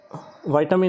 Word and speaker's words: vitamin: तो जो वाइटामिन है, कई लोग उसको विटामिन भी बोलते हैं, वाइटामिन भी बोलते हैं, प्रोनाउंसिएशन के ऊपर मत जाइए, ठीक है।